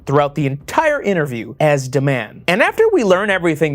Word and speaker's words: Dman: He wants to be called Dman, pronounced de man, as Anna says it.